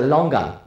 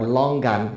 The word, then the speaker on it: longan: fruit that's similar is a longan or long gun is it spelt pronounced a little bit different and this is